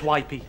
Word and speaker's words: Whippy: your operation dr whippy it's pronounced wipey that's worse isn't it